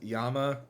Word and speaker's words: llama: Um which probably supports the idea that the original pronunciation was yama and it kind of turned into glama as it was moved around.